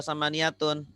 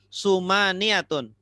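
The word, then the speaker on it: ثمانية: Ibu Eli, kenapa dibaca sama niyatun? Tidak dibaca sumaniyatun.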